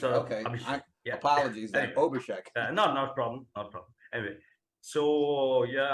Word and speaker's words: Abhishek: Yeah, as my name also starts with A but sounds as O. Oh, it should be Abhishek. Abhishek. Okay. Apologies then. Anyway, Abhishek.